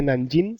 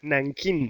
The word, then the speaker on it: Nankín: Digo, mira, no se dice Nanjing, sino Nankín.